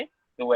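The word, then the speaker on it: hue: ह्यू को एच को साइलेंट भी कर सकते हैं आप, तो यू भी बोल सकते हैं।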